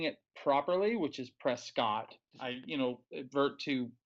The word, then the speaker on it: Prescott: it's not worth me saying it properly, which is Prescott. I advert to saying it wrong, which is Prescott.